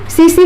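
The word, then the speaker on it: tsetse: ठीक है, सीसी फ्लाई इसको कहते हैं इंग्लिश में, और हिंदी में सीसी मक्खी, टी साइलेंट होता है पढ़ने में, तो सीसी मक्खी इसको कहते हैं।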